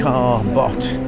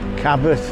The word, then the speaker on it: Cabot: there yeah greetings folks while we're at the car bot circus Cabot how you pronounce it anyway so I've got Zara there